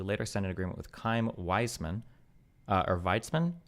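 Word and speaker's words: Chaim Weizmann: the Turks, who later sign an agreement with Kim Wiseman uh or Vitzman. How do you pronounce this guy's name? Kheim Vitzman. Kheim Vitzman and other Zionist leaders during the 1919 Paris Peace Conference.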